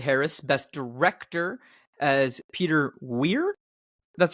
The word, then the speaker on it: Weir: Role for Ed Harris, Best Director as Peter Weir. That's how I pronounce the name?